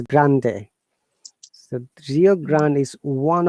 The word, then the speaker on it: Rio Grande: the rio grant okay when you're pronouncing this in english it is grand but while it is spanish it is grande so rio grande is